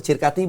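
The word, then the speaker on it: Circati: Betul Cirkati dibacanya Alejandro Cirkati.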